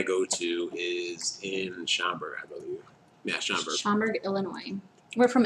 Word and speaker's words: Illinois: to is in Schaumburg Illinois we're from Illinois by the way Schaumburg Illinois cz's don't ever pronounce the S at the end of Illinois it's like Des Moines